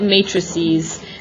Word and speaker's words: matrices: all right so this is the method we pronounce it matrices that's the plural version of it the singular